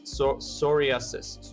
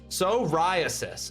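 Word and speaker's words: psoriasis: No, it's not pronounced that way. Soriasis. Soriasis. Okay. Okay. The the I and the A are not part of the same syllable. They are they are differentiating two syllables. It's four syllables, not three.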